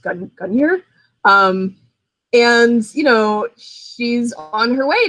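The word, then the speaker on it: Gungnir: And I believe it's pronounced Gunyer.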